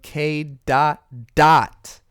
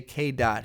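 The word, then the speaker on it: K.Dot: Because remember, it's spelled K and then a period and then D-O-T. People always say K dot. He himself has many times said dot, K dot, but it's K dot dot.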